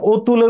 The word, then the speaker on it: অতুল: এর ব্যাকরণ পরে ভুলে অতুল লেখা আছে কিন্তু ব্যবহারিক অভিধানে অতুলের উচ্চারণ আসলে অতুল না অতুল কারণ তুলের বিপরীত শব্দ আমরা জানি যে অ